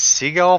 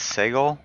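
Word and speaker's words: Sagal: I want to say her name was Seagull, but I think it's Segal.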